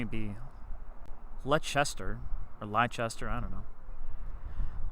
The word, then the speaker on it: Leicester: From Leicester, Massachusetts. Massachusetts, that area around Boston. A lot of pronunciation with those cities that don't match the spelling in the cities, but you know what?